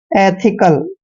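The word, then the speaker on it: ethical: एथिकल, एथिकल।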